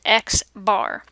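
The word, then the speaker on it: x̄: in the data set the mean of the sample is written an X with a line on top of it and pronounced X bar this is the type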